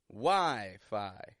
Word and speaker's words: Wi-Fi: with me now Wii Wii WiFi getting it strong in the beginning kind of stretched out lengthening that vowel sound stressing it Wii quick and quiet so Wi-Fi is great